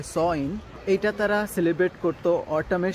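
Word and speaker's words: Samhain: এটার আসল নাম ছিল সামহেইন, যেটাকে এরা প্রোনাউন্স করে থাকে সইন।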